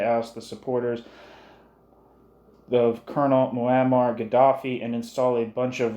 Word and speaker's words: Muammar Gaddafi: James Square last Tuesday to oust the supporters of Colonel Muammar Gaddafi and install a bunch of right-wing pro-imperialist stooges," end quote.